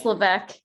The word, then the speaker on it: Levesque: name right levesque it's lebec levesque right yeah i don't say the s that's why the ass is silent thank you for correcting